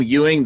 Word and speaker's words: Ewing: name is lewis ewing you pronounce my last name ewing the e pronounce it like a u that's for debbie williams